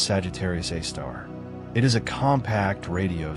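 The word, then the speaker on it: Sagittarius A*: Its name is Sagittarius A star written in scientific notation as Sagittarius Asterisk and pronounced Sagittarius A star.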